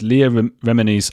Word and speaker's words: Leah Remini: Uh Jennifer Roberts asks, how realistic is Leah Remini's I I I can never say her name. What is it again, Chris? Leah Remini. Leah Remini. You put it on the first syllable, Remini.